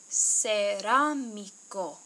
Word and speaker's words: cerámico: Sí, es cerámico. Cerámico. Okay, it uses the soft C in se and the hard C in co. Cerámico.